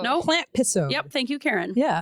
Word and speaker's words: Plantpisode: This is our Plantpisode, too. Oh my gosh, we didn't even talk. Plantpisode. Oh, she said it. Yeah, Plantpisode is right. Is it Plantpisode? It's a Plantisode. No. Plantpisode.